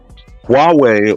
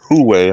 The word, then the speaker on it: Huawei: Huawei or Huawei, however you want to pronounce this, Huawei.